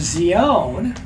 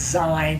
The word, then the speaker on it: Zion: When I say Zion, it's Zion. People say Zion, but that's not how you pronounce it. It is Zion, like Z is a zebra.